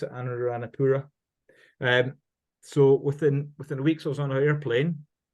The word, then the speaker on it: Anuradhapura: How do you pronounce it? Anuradhapura.